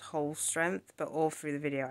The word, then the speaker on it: Holstrength: from work okay so so it's pronounced whole strength but all through the video I just call it holy strength so we just just